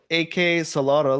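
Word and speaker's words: AK-xolotl: be playing a game called AK Solotl, like Axolotl, but spelled with an AK, like AK-47.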